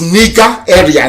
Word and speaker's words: Nigeria: long as nigeria does the proper pronunciation not knowing nigeria is the elephant from nigeria it sounds a bit okay the proper name is nika area nigeria if you go